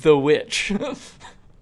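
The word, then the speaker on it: The VVitch: But the the pronunciation of that title is 100% the witch.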